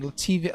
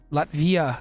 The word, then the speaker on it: Latvia: Imagine here is negative 1 Celsius -7 here in Lativia. Lativia, Eastern Europe. Oh my gosh, Lativia. Lativia. I don't want to say that wrong. Lat Oh, I'm I'm I am saying it wrong. Latvia. Latvia. Latvia.